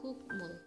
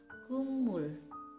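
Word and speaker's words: 국물: adalah gokmul seharusnya Dibaca gokmul tapi salah ya teman yang benar dibaca Gumul humile tulisannya tetap cuma cara membacanya mengalami perubahan bunyi untuk contoh yang kedua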